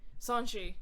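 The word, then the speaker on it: Sonoshee: I'm gonna mispronounce her name, even though I've heard it a million times in the movie. Sanshi.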